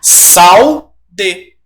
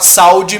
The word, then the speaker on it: saúde: Mas aí como é que seria a pronúncia? Salde. Eu tô com a saúde meio problemática, certo?